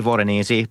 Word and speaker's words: Voronezh: Okay, your third pick, and I'm probably going to butcher the name here of Voronezh. Is that Did I say that right? Yeah, I would say Voronezh, but you know, I